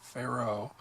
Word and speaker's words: Pharaoh: they tell you to put the emphasis on the far part of Pharaoh and the ne part